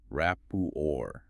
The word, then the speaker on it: rapport: Rapour. R A P P O R T. US pronunciation rapor.